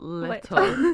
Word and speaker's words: Little: The way you pronounce her last name is Little.